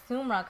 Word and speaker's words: Samra: don't know where the sumra comes from because there's no u in my name at all is pronounced sumra so sometimes I say you know it's um like sum the sum of two numbers and um rock what's